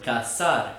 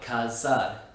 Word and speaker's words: cazar: The word cazar, which means to hunt, is also pronounced with an S sound, cazar, not cazar.